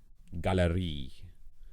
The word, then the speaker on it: Galerie: a word like that, that E is the accented syllable. Galerie, die, Fantasie, it all goes to E.